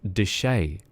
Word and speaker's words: Deshay: My surname is pronounced Deshay. Deshay. Which is a little bit fancy. So it's French. I have a French surname.